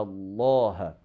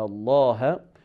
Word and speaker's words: Allah: So if that one has fatha or dhamma, so the word of Allah will be pronounced with the quality of heaviness. Like for example, when we say Inna Allah, when we say Inna Allah, so in that case,